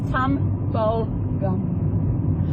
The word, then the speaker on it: Tumbulgum: And it is spelled Tumbulgum. It's Tumbulgum.